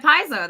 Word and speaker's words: Paizo: is the senior developer at how do you pronounce that piso at piso that's correct piso at piso and we're the